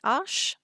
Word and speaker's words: Arches: I know in English most people pronounce it Arches, but it is a French company, and I have looked it up because I was interested in how it is pronounced correctly, and the correct pronunciation is Arche.